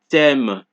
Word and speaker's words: thème: Thus, TH is pronounced like T. Example, mathématiques, thème, T.